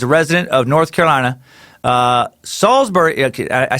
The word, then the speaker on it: Salisbury: resident of North Carolina Salisbury I said salzburg salzburg's pronounced salisbury not Salle's berry I'm not one for